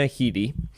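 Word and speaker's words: Headey: Uh I believe she pronounces her name Lena Heiti. Lena. Okay. Yeah. Um but I have always referred to her as Lena Hedi or Lena Heiti or L uh it's Lena Heiti.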